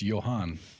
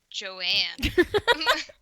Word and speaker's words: Johann: It's Johann. Oh, that's how you pronounce it. I was thinking Joanne. Wow. Oh, damn. Wow. I was just going to say Jan, like John.